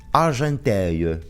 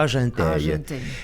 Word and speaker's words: Argenteuil: A ver cómo lo pronuncia. Argenteuil. Toma. Argenteuil.